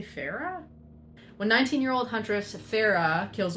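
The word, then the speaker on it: Feyre: life when 19-year-old Huntress Farah is that her name it's spelled f y r e people say Farah when 19-year-old Huntress Farah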